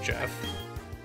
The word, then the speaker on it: GIF: uh properly speaking according to the creator it's pronounced jeff but the internet is like an echo